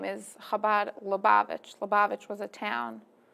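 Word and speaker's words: Chabad: are from the habad you say habad or habad however you could pronounce it but officially kabad yes that it's that Jewish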